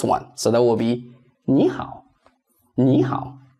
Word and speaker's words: 你好: Third tone changes into second tone when it goes with another third tone syllable. Let's see. See the example. This one. Everybody is familiar with this one. 你好.